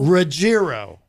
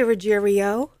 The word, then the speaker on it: Ruggiero: gonna tell you now I always think it's a soft G I would say Ruggiero but it's Ruggiero as long as you don't say rogério right my father will